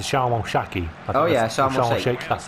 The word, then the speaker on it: Sharm el Sheikh: Oh yeah, Sharm el Sheikh. That's how you Yeah, pronounce it.